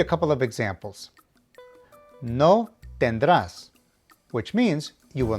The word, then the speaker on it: tendrás: It means that you will pronounce the main verb with the emphasis on the last syllable, as indicated by the accent. Let me give you a couple of examples. No tendrás, which means you will not have.